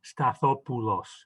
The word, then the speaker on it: Stathopoulos: a greek file right the correct pronunciation is actually stathopoulos where the ou is like ooh okay but you know most